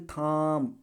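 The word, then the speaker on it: thumb: बी आया last में अब इसको थाम नहीं पढ़ेंगे थाम पढ़ेंगे क्या पढ़ेंगे थाम थाम नहीं पढ़ेंगे बी क्या है साइलेंट है ठीक उसी प्रकार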